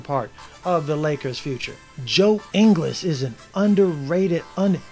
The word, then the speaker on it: Joe Ingles: Actually, I believe it's Joe Ingles is how you pronounce that guy's name.